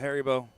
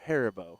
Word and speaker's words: Haribo: While holding a bag of Haribo. I might. That's a clip. Is it Haribo or Haribo? Because I think it's Harbo. Harbo in the States, I think it's Haribo is the natural pronunciation.